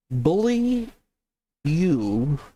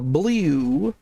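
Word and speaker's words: Beaulieu: likely absolutely true and she says that it's French and that I should be pronouncing it bully you or Bou.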